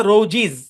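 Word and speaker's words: roses: তাহলে এটার উচ্চারণ হওয়ার কথা রোজিজ, কিন্তু আমরা কি করছিলাম, আমাদের সহজ করার জন্য,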